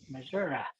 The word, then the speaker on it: Missouri: It's Missouri. So, why do you guys pronounce Missouri? Because that's the Indian name for the state. That's the way it's supposed to be said. Well, right, but there's a R-I.